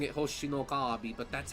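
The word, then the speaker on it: 星のカービィ: um City trial are all lifted directly from hoshino kabi I'm in fourth I know I sound like a total huieb pronouncing it hoshinookabi but that's how it's said that's how you're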